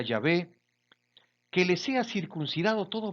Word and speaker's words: Yahvé: quiere celebrar la Pascua para Jehová se pronuncia yahvé que le sea circuncidado